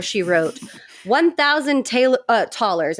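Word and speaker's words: Thaler: wrote one thousand Taylor tallers I think it's pronounced taller is like our dollars one thousand dollars a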